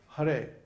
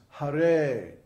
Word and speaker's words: Hare: So in Hare, for example, the first syllable is short and the second syllable is long. So it's not Hare, it's Hare.